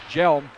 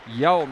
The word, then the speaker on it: Yelm: to come out as Jelm, check that helm. Yelm, we're going to get that right by the end of the season. Yelm is the correct pronunciation, I've been told. Apologies if it's not, but I got my handy-dandy pronunciation guide from Mrs. D'Amato.